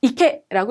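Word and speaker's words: 池: 연못 짓자인데 훈독으로 어떻게 읽을 거냐 하는 훈독 한자 한자의 훈독 문제라고 보시면 되시겠습니다. 자, 이케라고 읽으시면 되고요. 연못 짓자는 훈독으로론 지금처럼 이케 그리고 음독으로 쓰여지는 경우도 많아요.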